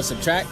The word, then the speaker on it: SBTRKT: Now, do you know Subtract? Don't think I've heard that song. No. Subtract's an artist. He's like okay. It's like he spelled without the vowels, so it's like SBTRKT.